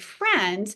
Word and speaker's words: friend: So for example, in the word friend, we know that the letter F says f. That's a decodable part of the word, but the spelling IE, that's an irregular spelling for the eh sound.